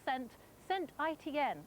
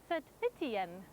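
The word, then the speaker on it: Saint-Étienne: Johnny said to me to pronounce Saint Etienne with a French accent, Saint Etienne.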